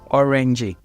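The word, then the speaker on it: öğrenci: So an example is there is a word called orangey. Orangey, that is student. So you're not going to pronounce the G.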